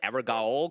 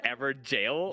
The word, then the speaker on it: Evergaol: I believe I used to call it Evergaol because like jail. Yeah, no, it looks like. I'm right there with you, buddy. I'm right there with you. Apparently, it's pronounced Everjail.